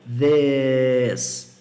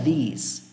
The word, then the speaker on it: this: Então, this, this. Você não vai pronunciar these. Você vai pronunciar this.